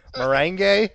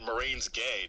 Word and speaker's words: merengue: Merengue. You gotta roll your R's, dude. The merengue. No, not Marine's gay. No. Marine's gay. No. Merengue.